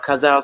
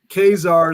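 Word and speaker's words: Ka-Zar: knowledgeable guy he likes kazaar khazal sounds too hocus i agree with you dave kazar is the way i've always said it as well yeah that's how i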